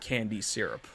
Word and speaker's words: Candye Syrup: It's Candye syrup, but you pronounce Yeah. it Candy Syrup.